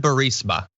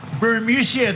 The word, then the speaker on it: Burisma: Here is a video of the president trying to pronounce the word Burisma. 8 months after his alleged meeting with the Burmese executives. So this Burmese, they say, pronounce it Burmese, a real beautiful company.